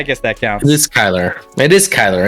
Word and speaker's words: Kyler: yeah I mean it's just like from a Kyler Murray standpoint this is a guy you paid